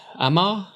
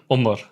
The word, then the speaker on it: Omar: How do you pronounce it, Tom? Uh, Amar. From here. From here. Omar.